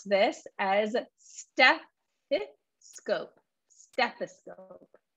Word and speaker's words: stethoscope: this as stephi scope stethoscope not steppo scope and be careful that we do pronounce the th st stethoscope okay awesome